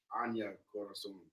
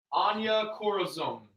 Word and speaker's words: Anya Corazon: Anya Corazon. Anya Corazon.